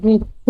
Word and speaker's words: গৃহ্য: দৃঢ় সূত্রে কি আছে এটা গৃহ না ওটা গৃহ্য উচ্চারণ হবে দূর সূত্রে কি আছে